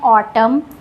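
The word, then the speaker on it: autumn: ऑटम में N silent है क्योंकि एम के बाद है एन। इसको पढ़ते हैं ऑटम।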